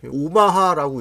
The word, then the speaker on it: OMH: 자, 다음 제품은 OMH, 오마하라고 읽더라고요.